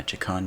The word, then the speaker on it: Che'kan: i could remember exactly chikon noodle a i think with new new dale yeah jacon new dolly that's roughly how to pronounce my chicken noodle pun but yeah jacon's not